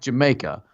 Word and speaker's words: jamaica: It's spelled like Jamaica, but it's pronounced Jamaica.